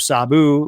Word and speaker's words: Sabu: it's a big one involving the death of Sabu or Sabu. Is it Sabu or Sab? I keep hearing it pronounced both ways.